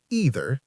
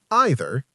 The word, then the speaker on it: either: Tip eight, don't stress about pronunciation. Both either and either are correct. Choose one and use it consistently.